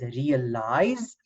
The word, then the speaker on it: realize: And then the word I-Z-E, like in the word realize, it makes the sound eyes, right?